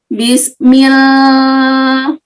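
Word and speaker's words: بسم: Bismil, enggak, mil, hati-hati ya. Tadi Bu Wiwin membacanya dengan tafkhim atau dengan tebal. Salah, harusnya dibacanya dengan tipis.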